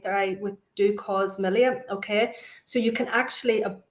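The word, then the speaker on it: milia: Oh, Marie Mullen is saying, just on Anne, could you ask if you have melia around your eyes? Did I pronounce that right? Melia, yeah.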